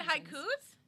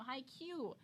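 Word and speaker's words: Haikyuu: seasons not all four you mean high coupes no high q it means volleyball in japanese it's a volleyball anime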